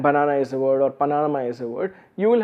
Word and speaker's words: Panama: The word Panama has accent on the first syllable, Panama, actually it's said Panama. So Panama is more stress on the first one, ama is the second one is slightly less signifying.